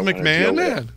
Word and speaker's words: McMahon: Is it just McMahon?